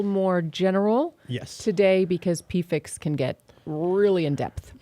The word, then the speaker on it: PFIC: it today we want to talk about pfix pfix is the correct way to pronounce this horrible thing not pivx which which is just i think that makes